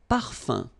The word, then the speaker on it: parfum: Un parfum. So remember, even if you've got this UM like that, phonetically it's exactly the same thing as if you would have UN. So it's nasal and it's un.